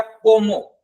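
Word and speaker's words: cómo: ये हो गया कोमो। को पे थोड़ा सा और मो पे नॉर्मली आपको प्रोनाउंस करना है।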